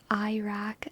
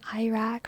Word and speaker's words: Iraq: It's pronounced like an E, not an I. Like a short E.